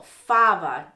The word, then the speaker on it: fava: with faba um and that of course is stressed on the first syllable fava dragged his feet and